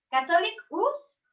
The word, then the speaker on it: Catholicus: Tiene un apostolado muy interesante llamado Catholicus. ¿Catholic-US o Catholic US? La mera verdad se pronuncia Catholicus, que quiere Catholic.